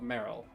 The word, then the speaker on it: Marill: Hello, Marill. It's nice to see you. I hope you're doing well today. Marill? Meryl. Meryl. That's how the Pokemon's name is pronounced.